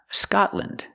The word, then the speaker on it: Scotland: Now, when you see L-A-N-D at the end of a country, it's usually always pronounced land. For example, England, Ireland, Scotland. Use the short sound, lind.